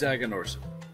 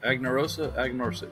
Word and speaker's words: Aganorsa: As I say, Aganorsa. Because it's Aganorsa. Aganorsa. Yeah, that's how you say it.